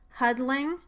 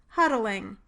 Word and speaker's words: huddling: words, but 2-syllable words if you say them with the lateral release. Listen, huddling with the lateral release versus huddling without it. Listen again, huddling versus huddling.